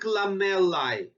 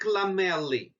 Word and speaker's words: lamellae: is what we call concentric lamellae or concentric lamellae both pronunciation are correct note that a e